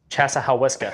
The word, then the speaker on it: Chassahowitzka: How'd you pronounce Chaz? Chassahowitzka.